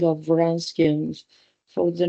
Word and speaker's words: Wronskian: Pay attention to, we pronounce as Wronskians, and then we spell it as Wronskian.